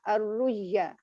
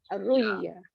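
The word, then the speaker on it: الرؤيا: Kita bacanya ar-ruyya. Tekan ar-ruyya. Ruyya.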